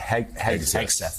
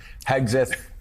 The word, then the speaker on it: Hegseth: I really need to learn to pronounce it. Hegseth, yeah. Hegseth.